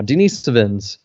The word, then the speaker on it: Denisovans: Denisovians? Ah, shit, I forget. That's yeah. Or Denisovans. Haha, I remember how to pronounce it now. Denisovans.